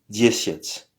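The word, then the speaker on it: десять: dit viat diviet et finalement 10 se dit diet alors il faut juste mémoriser Donc c'est nom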